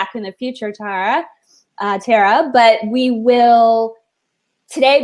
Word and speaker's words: Tara: bit about you so Tara I apologize if i'm pronouncing your name wrong i know it's like terra terra cotta it my brain Butler's block